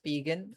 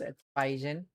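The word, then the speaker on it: Spigen: Some pronounce it as Pigan. I say it's Spygen.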